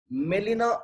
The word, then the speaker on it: Gmelina: And the botanical name of Gambari is Melina arborea. Melina arborea. Here G is silent.